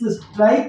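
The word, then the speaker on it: strike: आई के ई इस स्ट्राइक में भी आप ई पाएंगे लेकिन इस ई का उच्चारण बिल्कुल नहीं है उसको लिखेंगे कैसे देखिए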